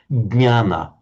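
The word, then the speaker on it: ज्ञान: In Sanskrit, you've got to pronounce the d sound to start with, jnana.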